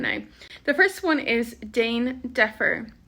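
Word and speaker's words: déan deifir: the first one is Dane defer Dean defer which literally means like to make a hurry or make a rush D can be pronounced like a j or a g son Jane Jeffer depending on your dialect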